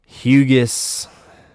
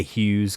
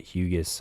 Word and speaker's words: Hugus: Hugus. fun name to say. I've been seeing breakers and I think I did it once or twice, but they pronounce it. They say Hughes because they don't know that that that uh